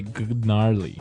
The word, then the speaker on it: gnarly: So, an interesting word, it's spelled Gnarley. Okay, so, but you don't say gnarly. No. You just- say gnarly.